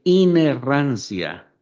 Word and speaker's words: inerrancia: Es Sí, inerrancia, inherancia. inerrancia, que no tiene errores. Sí, inherancia. Y pronúnceme, por favor, infalibilidad.